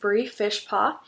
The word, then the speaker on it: Fishpaw: For those of you who don't know me, my name is Fishpaw. Um, Fishpaw, exactly like how you would think it is spelled.